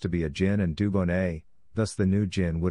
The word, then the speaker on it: Dubonnet: A wine-based aperitif is called Dubonnet, which is pronounced Dubonnet.